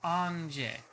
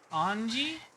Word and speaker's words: Ange: Her name is two characters, so it's two syllables. Ah, that makes sense. So it is Anje. Anji? Do you pronounce it like Angie?